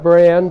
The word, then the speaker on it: Brand: Did I do W brand, like in brand new, and Bobosky, Bobosky, and it's spelled Bobosky, Bobosky.